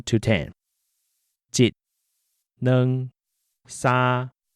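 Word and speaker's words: 兩: Next, we learned that the number 2 is neng.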